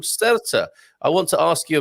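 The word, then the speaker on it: Sertã: I think it should be pronounced Satar because the accent is over the A. So yeah. The rule generally being that the accentuation is on the accent. So I think it's Satar.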